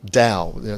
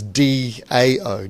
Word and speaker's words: Tao: out you doubt that the Chinese don't really have the T sound it's more the Dao so it's actually the better translation of that is d AO Dao and so there